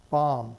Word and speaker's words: bomb: route and each suffix look at these silent letters bomb him damn sign the silent letters that kids have so much trouble learning too use when they're in elementary school but you know the be the silent be in bomb shows up in bombardment the silent n in